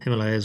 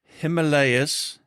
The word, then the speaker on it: Himalaya: How do locals pronounce it? Himalaya. Himalaya. You can say Himalaya though, because even over here they'll say one or the other. It's it's interchangeable.